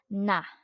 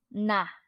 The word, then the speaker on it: 나: our topic noun I which in Korean is pronounced as na na and the next one we have here the